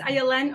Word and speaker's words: Ayelen: I had to get creative over the years with how to say my name. So you have two options. You can either think of violin without a V, or the letters ILN and say it very fast.